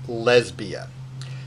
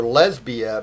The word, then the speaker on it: Lesbia: So in this particular case, Catullus calls her Lesbia because Lesbia, like Clodia, is three syllables long, starting with an accented long syllable, right? So da-da-da, right?